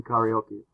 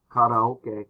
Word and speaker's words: karaoke: Sing karaoke. Karaoke or karaoke. That's how English speakers oftentimes say it. They say karaoke, which is really not a very good pronunciation of the machine and the activity.